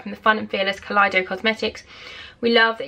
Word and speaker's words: Kaleido: Yeah, Kaleido. I nearly said Kaleidoscope because it's spelled the same, but it's Kaleido.